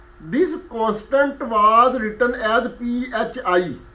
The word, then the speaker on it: phi: constant was written as p h i meaning Phi and another similar constant